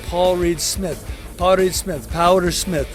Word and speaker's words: Paul Reed Smith: They call me Power Smith, which is a mispronunciation of Paul Reed Smith.